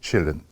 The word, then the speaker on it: Källén: Swedish physicist and uh it is written uh in all his books uh in all languages that his name pronounced Chelin.